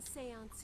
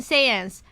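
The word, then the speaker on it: séance: time oh holy mother we hold this divination Seance in your name divination Seance hey thanks for saying that for me game now I know how to say it perfectly divination sayans I kind of said it already but we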